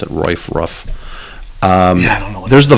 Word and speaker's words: Ruoff: You've got, I can never pronounce it, Ruff. I don't know. There's the Vogue. I say Ruoff. It's gotta be Ruoff.